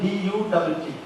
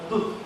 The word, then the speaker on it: Dutt: Here he spells it as D-U-T-T. If that is U is as U, then this is to be pronounced as Tut.